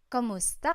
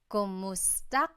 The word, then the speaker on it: Kumusta: you in Tagalog, it's Kamusta ka? Kumusta ka? So it's spelled K-U-M, kumusta ka. But sometimes you might hear some people say kamusta ka, like it's a K-A sound.